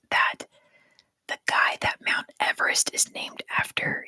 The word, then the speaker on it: Everest: I still can't get over last year finding out that the guy that Mount Everest is named after, his name was pronounced Eve Rest.